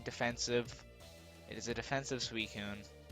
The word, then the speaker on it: Suicune: It is a defensive Suicune. Suicune. Yes, fucking. That's how I'm pronouncing it.